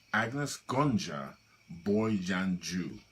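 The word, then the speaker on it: Anjezë Gonxhe Bojaxhiu: The correct pronunciation of this word is Agnes Gonja Boyjanju.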